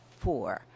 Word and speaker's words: Fur: spelled F you are looks like fur but it's pronounced for and the Darfur region Darfur means land of the for adam was a member